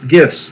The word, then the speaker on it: GIF: No gifs. Wait, which one are you all? No gifts. That's right. No gifts. No gifts. Only gifs. Hard G is correct.